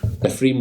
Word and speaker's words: Ephraim: Pattinson is green Norman Ephraim as a Ephraim I keep struggling to pronounce that if you're sorry like a shrimp Ephraim Winslow there we go